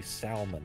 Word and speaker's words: salmon: I know, but I really wanted to say salmon. Uh-huh. Zipper, how do you pronounce that one?